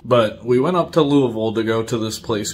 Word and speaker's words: Louisville: from our city to Louisville. That's how we pronounce it here in Kentucky, Louisville. You might say Louisville. Louisville, that would make you a normal person. But us Kentuckians, we say Louisville.